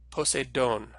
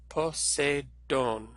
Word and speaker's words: Poseidon: Remember to think about which sound each letter makes, and to put the word stress on the syllable with the circumflex.